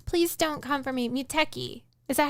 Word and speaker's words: Muteki: Muteki. Is that how it's pronounced? Muteki? Yeah. Muteki.